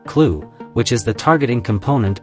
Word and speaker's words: CLU: reusable command launch unit clu pronounced clue which is the targeting